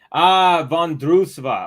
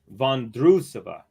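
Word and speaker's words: Vondroušová: Vondrousova. Okay, Vondrousova. Got you. I was saying Vondrousova because I've heard some people say Vondrousova, but I'm like, So Vondrousova. Okay, perfect.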